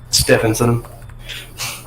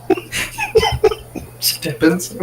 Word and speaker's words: Stephenson: Stephenson. Okay. The H is silent. Stephenson?